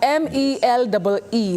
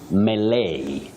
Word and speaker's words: melee: Moving on to this other word, I'll spell it out, M-E-L-E-E, like some sort of excitement. How do we go about that one? Oh, that one you say melee, not melee.